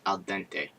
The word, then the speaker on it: al dente: It's pronounced al dente. It's Italian.